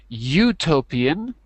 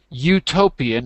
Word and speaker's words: utopian: Utopian. Utopian, not utopian, but utopian.